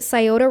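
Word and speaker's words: Scioto: of Route 2 57 now I pronounce it scota River I know there's different ways to pronounce it I am I've only heard scota my whole life when the community heard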